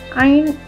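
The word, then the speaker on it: ع: Ain also has no equivalent in English. It has the pronunciation of a. Ain is pronounced with the central throat. Try to pronounce it. Ain, a, a. Please notice that it is not a, it is a.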